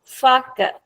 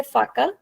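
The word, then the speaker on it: faca: एफ द फाका again in this word I कैन से फाका आई कैन से फाका और आई कैन से फाका सो आई एम चूजिंग टू से फाक because second last sound को आपको एक्सटेंड करना है एफ द फैक और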